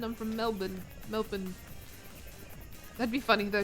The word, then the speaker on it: Melbourne: They say Melbourne. I'm from Melbourne. Melbourne. That'd be funny though. Just randomly Melbourne. I sound like an Australian. Melbourne. Because you're It's funny to pronounce the R though to be so Oh, you guys are from Melbourne.